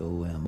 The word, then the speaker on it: Om: And I'd like to combine the power of sound with the flow of energy by chanting 3 times that beautiful Sanskrit word Om, pronounced O-M, Om, pronounced Om.